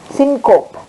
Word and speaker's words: syncope: heart is called synop how will you pronounce it s y n c p syncope s y n c